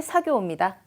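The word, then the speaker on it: 作業: 얼핏 보기에 언뜻 봤을 때 쿠다라 사교가 오소오다가 자 쿠다라나이 시시하고네 재미없는 시시한 작업이 작업이 사교우옵니다. 발음 특이하죠 사쿠 아니고요.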